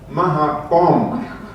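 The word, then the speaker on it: มะขามป้อม: The Thai fruit you were just talking about, how do you pronounce that in Thai? In Thai, ม ะ ข า ม ป ้ อ ม Mahapom.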